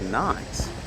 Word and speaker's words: Nice: Tell you what, mate, this view is nice.